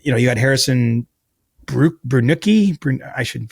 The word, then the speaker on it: Brunicki: You know, you had Harrison Brunuki, I should say his name better. Anyway, I think yeah, how do you say it? I think it's Brunick. I don't I would have said Brunicki, but but you